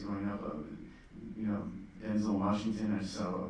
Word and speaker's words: Denzel: a library place growing up of, you know, Denzel Washington. I just saw a video pronouncing his name correctly. Denzel, it's not Denzel.